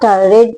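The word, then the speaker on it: read: डाल दिया फिर वर्ब रीड पढ़ना होता है रीड रेड रेड pronunciation रेड करते हैं स्पेलिंग सेम होती है आर ई ए डी तो रेड डाल दिया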